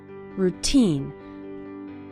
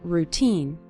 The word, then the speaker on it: routine: part of your daily routine the syllable teen is stressed in the word routine you'll start seeing your